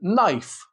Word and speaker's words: knife: The K in knife, knock, and knee.